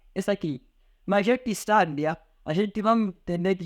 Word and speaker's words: sábia: Já diferente daqui, sábia. Então, aqui a sílaba tônica recai na penúltima sílaba.